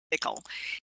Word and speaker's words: Piql: Bendik Bridey from the company called Pickle, that's how you pronounce Pickle, is working on a project for preserving data,